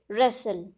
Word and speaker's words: wrestle: So in these words W is a silent alphabet.